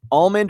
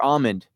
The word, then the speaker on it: almond: Almond or almond? Almond. Yeah, I think almond too. I mean, it's got an L in there. You got to pronounce the L. You can't just go almond.